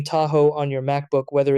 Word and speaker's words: Tahoe: Understand that Tahoe is pronounced as Tahoe. Step 2. Break it into two parts. Ta, like ta in taco, and ho, like go.